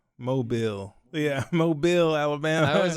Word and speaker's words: Mobile: I know it's spelled like mobile, but it's like Mobile.